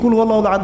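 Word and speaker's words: قل هو الله أحد: আরেকটা সূরা পড়ে গেলাম কুলহু আল্লাহু আহাদ কি কুলহু আল্লাহু আহাদ মানে কি এটা উচ্চারণই বা কেমন করে করতে হয় কুল বলুন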